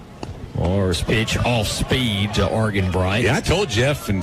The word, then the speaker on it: Argenbright: I was going to say, I thought it was Argenbright. Yeah, hard G.